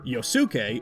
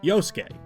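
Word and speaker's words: Yosuke: Another common thing is that in many Japanese words, the U kind of becomes a silent letter, ranging in ways like how we just say des instead of desu or how we don't call this character Yosuk, but simply Yoske.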